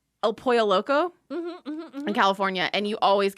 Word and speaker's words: El Pollo Loco: Are you saying Pollo Loco? pollo. Okay, it sounds like you keep saying Polo. Oh, I don't know what- Pollo Yeah. Loco. I think you're saying it right and my brain's registering it wrong. Okay, great. I'm not saying El Polo. It's a my issue, not a you issue. Okay, great. El Pollo Loco.